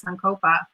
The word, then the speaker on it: sankalpa: So to your point, setting the intention, or the sankalpa, right?